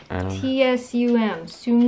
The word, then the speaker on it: Tsum Tsum: T-S-U-M. Tsum Tsum.